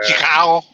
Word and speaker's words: Chicago: just a Mexican thing I think a lot of people look at the way it's spelled and they go huh the CH is cha CH could also be sure very rarely this is the first time I heard chef there's an sh for that sh yeah CH can